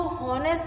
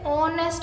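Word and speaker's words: honest: तो जब आप इस शब्द को बोलते हो फ्रेंड्स, तो इसको हॉनेस्ट नहीं, इसे ऑनेस्ट बोला जाता है।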